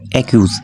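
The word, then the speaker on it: accuse: এরপর আরেকটা বাক্য নিয়েছি অ্যাকিউজ, অ্যাকিউজ, অ্যাকিউজ কেন হয়েছে, কারণ সামনে এ আছে বা ভাওয়েল আছে, তাই দুইটা সি থাকার কারণে একটার উচ্চারণ করব অ্যাকিউজ।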